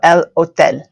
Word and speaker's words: hotel: it's not the hotel it's in Spanish now it's remember that o and the E and the sounds they make and then the silent h so El Hotel awesome let's look at